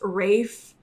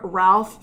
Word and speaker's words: Ralph: I always called him Ralph Fiennes because that's how the fuck his name is spelled.